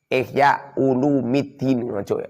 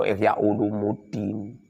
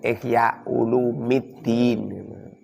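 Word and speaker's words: إحياء علوم الدين: kitab, fi ihya'i ulumiddini, ihya ulumiddin, ojo ihya ulumuddin, salah itu. Long ihya ulumuddin, ihya itu mudhof, ulumi itu mudhof ilaih. Mudhof ilaih dibaca rafa pernah fajir. Bacanya itu ihya ulumiddin.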